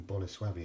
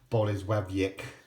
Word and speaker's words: Bolesławiec: you can see that on there made in Bola swabby it's that's how you pronounce that correctly it's no no it's not bollie's web Yik let's see it's bonus fabians turn the lights